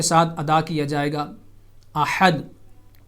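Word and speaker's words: أحد: ادا کیا جائے گا، احد، ہا کا مخرج صحیح طور پہ ادا کیا جائے گا، جو حلق کا درمیانی حصہ ہے، وسط حلق کا مڈل آف تھروٹ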